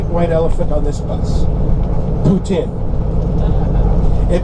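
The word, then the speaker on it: poutine: about the great white elephant on this bus Putin it rhymes with selin comfort food is all about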